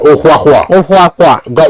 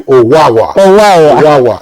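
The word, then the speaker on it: Ohwahwa: Yeah, it's pronounced as an Edo person will pronounce it, but the spelling is different. So those who anglicize the name will call him Owawa.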